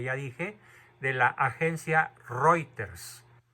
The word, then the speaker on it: Reuters: dije de la agencia reuters se escribe reuters se pronuncia reuter el periodista Alessandro Bianchi